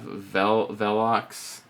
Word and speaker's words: Velox: Okay, so first off is we have Velox. So you Velox, can Pronounced like a W because Latin is a weird language.